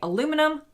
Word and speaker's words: aluminum: Americans say aluminum, Brits say aluminium.